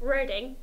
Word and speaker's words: Reading: Carla, um, I'm going to choose my hometown, Reading, because it's spelled reading. So, it should either change the spelling or we should call it reading because it makes no sense otherwise.